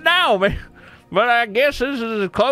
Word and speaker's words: Nomai: It's Nomai. Naomi. Nomai. I'd pronounce it Naomi.